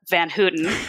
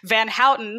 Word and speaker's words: Van Houten: the record everybody my name is not Alesha Van Hooten Van Houten here's how you can remember this is Dutch and oh you T spells out so it's van how yes my first name